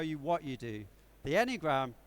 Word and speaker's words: Enneagram: It's a tool called the Enneagram, although really it should be pronounced Enneagram, but it just feels too weird saying that.